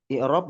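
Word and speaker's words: إعراب: Kata beliau, al-i'rab bi kasril hamzah. I'rab dengan mengkasrahkan hamzahnya.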